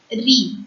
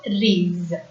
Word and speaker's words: riz: Z is at the last, so the last consonant will remain silent in a word. So this word Z is silent. So the word has to be pronounced as re and not rees.